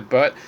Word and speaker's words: Baird: Okay, the third variation of the motif of the songbird is actually Lucy Gray Bird herself. Okay, the name Baird, bird, and it's pronounced as bird, but so there's a silent A, but so she is the songbird.